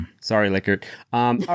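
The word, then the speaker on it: Likert: So did you know by the way the guy pronounced his name licard? Oh really? Yeah. Did he cuz everyone calls it a liker.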